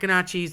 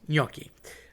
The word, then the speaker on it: gnocchi: So, ñoqui is almost like a You're not saying gnocchi. Okay, I've had people say gnocchis, it makes me want to throw up. Um they're not gnocchis, they're not gnocchis, it's ñoqui.